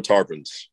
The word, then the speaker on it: Tarpons: Tampa Tarpons.